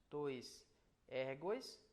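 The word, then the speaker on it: τοῖς ἔργοις: E ele vai sempre aparecer o iota, seja subscrito ou no caso do plural, ele está aqui sem ser subscrito, então nós o pronunciamos. Tois ergos, mas aqui como está subscrito, ele só aparece graficamente, mas sonoramente é to ergo.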